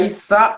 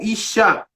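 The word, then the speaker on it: אִשָּׁה: Kametz e o Re, fica Issa ou Ixá. Se ficar Issa, é 2 S, como eu pronunciei. Se ficar Ixá, é I-S-H-S-H-A.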